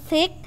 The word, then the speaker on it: thick: Jadi bacanya ini thick dengan lidahnya keluar tapi digigit ya.